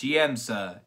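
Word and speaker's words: Siamsa: say that wrong but it's called Sima or simsa I think it's simsa siemsa how do you look this up a few moments later and we are back it's pronounced siemsa a Celtic Christmas it took me five minutes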